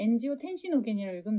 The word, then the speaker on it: 엔지오텐시노겐: 여기 엔지오텐시노겐이라고 되는데 엔지오텐시노겐이라고 읽으면 되고요.